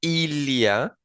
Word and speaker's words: il y a: Eh, la expresión il y a, perdón, la expresión il y a se pronuncia ilia, ¿verdad? Pegando el sonido de la L a la Y, ilia.